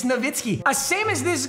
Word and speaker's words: Nowitzki: we're like published it's no whiskey no actually no you're so unbelievably wrong he is from Germany W's are V's it's novitsky if you pronounce you